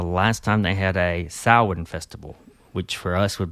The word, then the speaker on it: Samhain: years before the last time they had a Samhain festival, which for us would be like a Halloween kind of festival.